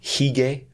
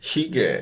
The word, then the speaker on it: hygge: Are you familiar with the Danish term hygge? I think it's spelled Hygge.